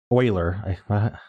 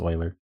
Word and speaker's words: Euler: this one's called 4x4 Euler thermos Sudoku by migu 4x4 Euler so Oiler I can't get over saying you where I know it's Oiler um 4x4 Euler Sudoku